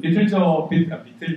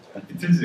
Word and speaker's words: 비틀즈: 이 사진은 비틀저 제가 경상도라서 스와 저가 발음이 애매합니다. 비틀즈 맞죠? 비틀즈.